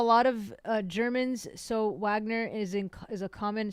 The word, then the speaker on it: Wagner: of uh Germans so Wagner is in is a common surname but the proper pronunciation is Vagner so I just want